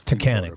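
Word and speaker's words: Taughannock: But people don't jump off and no one knows how to pronounce it. It's Takahan falls around if a region shaped melting glacial ice.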